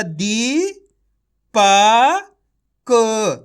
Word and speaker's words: दीपक: तरीके से पढ़ना है आपको खीच के दीपक ऐसे नहीं पढ़ना दीपक अगर आप दीपक पढ़ दोगे तो छोटी ई की मात्रा का उच्चारण हो जाएगा इस चीज का आपको